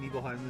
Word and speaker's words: Nibelheim: Nibelheim is usually how to pronounce Okay.